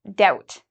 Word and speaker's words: doubt: have to worry because you don't pronounce the b it's just doubt this word is a